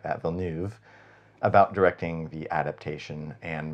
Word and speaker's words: Villeneuve: got to remember to say it like that, Villeneuve, about directing the adaptation, and very quickly hired